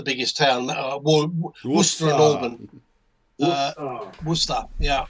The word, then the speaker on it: Worcester: Worcester. Yeah, at least it's said the same way as we pronounce it. It is Worcester.